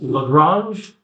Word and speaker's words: Lagrange: This is pronounced Lagrange error bound.